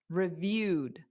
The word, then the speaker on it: reviewed: da, quickly, reviewed, da, because review is a verb and the ed doesn't add an extra syllable. So it's da, reviewed. So it's just a very soft D at the end.